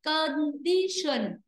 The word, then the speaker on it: condition: Nên ở đây chúng ta sẽ đọc là âm ơ vì nó không có trọng âm. Đó. Nên chúng ta sẽ đọc là condition. Không phải là condition. Phải đọc condition. Condition. Bởi vì nó không có trọng âm nên nó sẽ ra âm ơ.